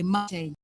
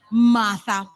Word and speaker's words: Marte: Togo was very deliberate in pronouncing your name the German way, Marte. But your colleagues decided to, shout out your name the South African way, Martha.